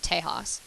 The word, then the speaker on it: Tejas: The Mexicans pronounce it Tejas.